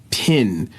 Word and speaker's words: pin: then he was like no it's pin and I still to this day in my 30s have to consciously think of pronouncing that word like that because my it's like inkling is to change that I sound to an e sound and that's called something